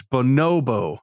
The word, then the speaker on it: bonobo: You're saying bonobo. The first O is not stressed like that. It's bonobo. No, my emphasis is on the second syllable.